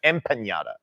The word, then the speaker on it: empanada: M with an M, empanada. Oh, empanada. Empanada. Yeah, so you're gonna get kidnapped. I'm saying it wrong. Yeah, there's no yada. No, it's ada.